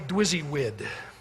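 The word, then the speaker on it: DWYSYWD: They called it simply dwizzywid, is how you pronounce that, which stands for what, would you guess?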